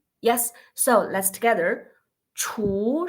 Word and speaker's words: 厨: So about this 厨, the consonant it seems like teacher so we pronounce 厨.